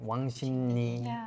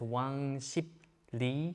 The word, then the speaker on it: 왕십리: Because like letter by letter is 왕십리. Yeah. But when you put that together, 왕십리, so 리 changes into ni.